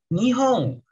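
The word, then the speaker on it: 日本: Nah, ini di bahasa Mandarin bacanya Ripen. Kalau di bahasa Jepang bacanya Nihong.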